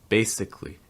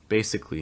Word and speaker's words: basically: our first one here basically basically notice that the that second a is not usually pronounced it's going to go right from that c to the l sound so again it can